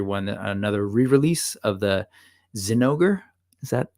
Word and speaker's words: Zinogre: another 20th anniversary one another re-release of the Zinogre is that how we're pronouncing it yeah Zinogre yeah that's right um this thing I love